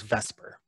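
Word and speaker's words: VSEPR: or vscpr which is usually pronounced as vesper so this is based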